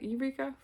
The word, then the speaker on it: Yreka: It's Yreka. Eureka.